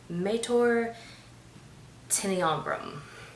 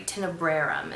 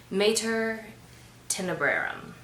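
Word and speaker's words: Tenebrarum: know climactic moment um that is called mater tiny ombre right so uh that's actually the oh i'm sorry tenebrum is how you pronounce it guys my latin just like everything else terrible i took latin class two semesters of latin class in high school and i'm still terrible mater tenebrerum that's mother of darkness and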